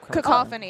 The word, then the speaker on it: cacophony: How do I pronounce that? Oh, Cacophony.